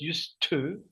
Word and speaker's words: used to: recuerden cuando lo pronuncian, recuerden unir con la t, no lo separen, no digan used o nada raro, es use to. Arrancas con la u y terminas con una u.